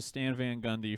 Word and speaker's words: Stan Van Gundy: the week goes to stan van gundy for becoming the coach of the new orleans pelicans and having a three syllable name stan van gun just kidding four sobels it's four syllables but uh uh yeah